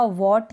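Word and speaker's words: what: जैसे कि यहाँ पर इसको पढ़ा वॉट, क्योंकि W के बाद H है तो हमने H को प्रोनाउंस नहीं किया।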